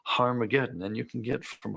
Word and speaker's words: Harmageddon: aspirant at the beginning meaning it's pronounced with an H so it originally was harmageddon and you can get